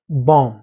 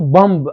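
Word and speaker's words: bomb: د مثال په شکل موږ تاسو لرو تامب دا موږ تاسو نه وایو تامب نه، تام نام بام. صحیح شو. بامب به نه وایو، نه بام.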